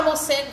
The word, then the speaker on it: morcego: Na palavra morcego, se você reparar, não tem acentuação nenhuma, mas a sílaba mais forte é o C.